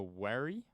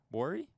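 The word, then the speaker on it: Wari: this group is called the wary worry i may be mispronouncing it w-a-r-i uh and they were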